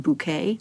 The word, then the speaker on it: Bucket: the BBC's television schedules, Hyerson Bucket, pronounced Bouquet, and Hetti Wayne.